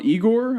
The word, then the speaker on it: IGOR: But it's called IGOR, I believe it's pronounced.